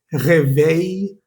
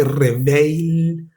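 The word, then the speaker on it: réveil: Ey, algunos ejemplos es, por ejemplo, despertador, reve o pulgar, se dice, no pronuncies esas ls al final, ¿vale? Revey, no sé si reveil ni ortail, la loncia.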